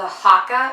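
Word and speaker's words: Haakaa: I really want to try out is the hakka and that's how you say it I'm really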